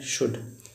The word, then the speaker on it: should: तो सिंपल सा है KDFM, KDFM याद करिए कि KDFM जब कभी आए, KDFM से पहले एल आए, एल साइलेंट होता है। जैसे एग्जांपल है शुड, SHOULD, शुड।